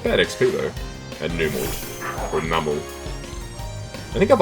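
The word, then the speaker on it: Numel: I've always said Numl, I think, cuz it sounds more like camel in my mind.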